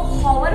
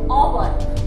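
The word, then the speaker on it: hour: And take example, ओवर honest man, ओवर honest man, हम इसको हॉवर बोलते क्या, नो, ओवर ओवर एंड ओवर है ना. सो साउंड इसका किसका कैसे लग रहा है, एच साइलेंट लग रहा है.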